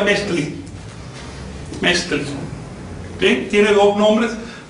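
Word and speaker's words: Metztli: Y en el año civil, Metzli, que se pronuncia Metzli.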